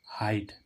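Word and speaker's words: height: ए हो रहा था लेकिन कुछ वर्णों में ई आई का उच्चारण आई भी होता है जैसे हम देखें एच ई आई जी एच टी हाइट यहां पर ई आई का उच्चारण क्या आ रहा है आई हाइट हाइट मीस ऊंचाई ऐसे इसमें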